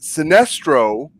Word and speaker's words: Sinestro: going to guess that sinestro whose name rhymes with sinister is really the villain